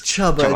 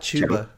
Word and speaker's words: Chuba: I never pronounce his name correctly, and It's Chubba. It's not Chuba.